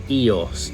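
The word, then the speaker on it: Ios: and this island here is called EOS and that is spelled IO as you can see on the screen now the thing about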